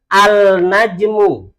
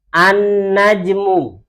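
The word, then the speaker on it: النجم: Kata yang pertama, najmun, bacanya bukan al-najmu, tapi cara membacanya an-najmu. Langsung masuk mana? Langsung masuk ke huruf nunnya ini, an-najmu.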